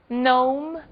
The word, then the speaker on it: gnome: As letras G e K não são pronunciadas quando seguidas da letra N. Apenas o N é pronunciado.